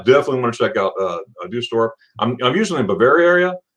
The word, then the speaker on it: Düsseldorf: Can you pronounce it one more time? Now that I'm like on the spot, I'm like, Düsseldorf.